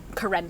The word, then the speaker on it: Karen: yeah yeah oh but it's actually pronounced like karen so there's like an emphasis on the second syllable and that's like um